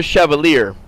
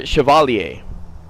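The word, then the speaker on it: Chevalier: But um in that class I remember um that teacher we used to call him Mr. Chevier but he was actually named Mr. Shioalier but um on paper it's spelled Mr. Chevier.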